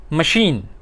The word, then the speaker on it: machine: यूज़ करते हैं मशीन, तो उसकी अगर आप स्पेलिंग देखें तो है MACHINE, तो अगर CH है तो मशीन नहीं कह सकते, क्योंकि वो फिर गलत हो जाएगा, मशीन कहेंगे।